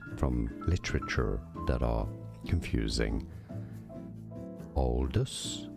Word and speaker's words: Aldous: Aldous. So some say it more as Aldous, others more as Aldous.